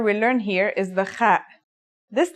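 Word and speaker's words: خ: Kha is a sound some people make when they laugh. It's also similar to the sound people make when they snore. According to phonetic charts, Ha is pronounced in a deeper part of the throat than Kha.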